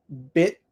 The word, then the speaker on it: bit: good let's see bit but what I do is I stop bit bit bit and no air comes out because the tongue just stays up bit however when I'm speaking very clearly I might bring the tongue down let the air out bit bit and I think that most British people do that also bit bit but for American people we usually say bit so I usually say